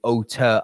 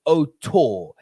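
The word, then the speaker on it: auteur: brilliant otter artist filmmaker and by the way for everyone in America please can we stop calling otter an old tour it's not t-o-u-r it's not right biggest pet peeves after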